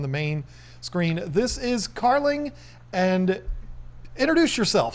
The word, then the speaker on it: Carling: main screen this is carling and introduce yourself say hi to everybody hi everyone i'm carling um somebody's going to ask how you spell your name it's uh like darling but with a c so that's how when